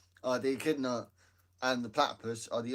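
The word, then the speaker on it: echidna: The other is called the akidna.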